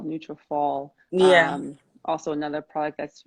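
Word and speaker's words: Nutrafol: neutrophil is also wonderful so neutrophil n-u-t-r-a uh f-o-l neutral fall yeah also another product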